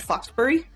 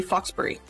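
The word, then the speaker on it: Fauxbury: It's spelled as the French faux, but would pronounce it fox. Yeah, exactly it. So that would be Foxbury.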